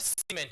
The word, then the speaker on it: cement: Now, the word cement here has two syllables. Now, so it's C then ment. So it's cement. You don't say cement, it's cement.